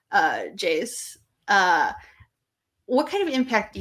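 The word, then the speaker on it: Geyse: Do you think Jays, I think that's how you pronounce it. I looked it up actually. There was like a Manchester United video of her saying her name. Jays.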